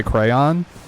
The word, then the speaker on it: crayon: i selected it was how i say crayon like it rhymes with don yo yeah apparently that's